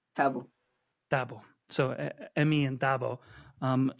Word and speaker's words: Thabo: Emmy and I'm probably going to say the name wrong, so please correct me. But is it Thabo? Is that how you say his name, the Yes, character's yes. name? Tabu.